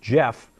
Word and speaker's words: Geoff: I suppose that's supposed to be pronounced Jeff.